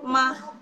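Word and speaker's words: 吗: Nah ini dia, yang dalam bahasa Mandarin untuk kata ganti apakah menggunakan ma tanpa nada, dia netral, bukan ton 1, bukan ton 2, 3, atau 4, jadi netral.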